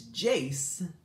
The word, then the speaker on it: Jace: You still got the name wrong. It's Jace, but.